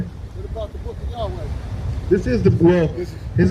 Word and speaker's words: Yahweh: So you just pronounce it Yahweh.